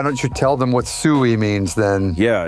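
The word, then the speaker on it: Suey: And yeah, by the way, it's spelled S-U-E-Y. Sui.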